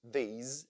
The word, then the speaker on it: these: Here we use these and those. Pay attention to the pronunciation. The S letter in these words sounds like Z.